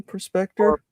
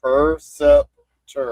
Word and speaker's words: Perceptor: How do you say his name? Perspector. Say Perceptor. Perceptor.